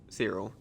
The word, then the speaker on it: Cyril: Yeah, let's go talk to Cyril. I think his name is pronounced Cyril, but I always say Cyril.